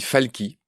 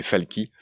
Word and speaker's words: Falchi: Tu t'appelles Rémi Falky. Ça s'écrit Falchi, mais tu m'as bien dit qu'on disait Falky.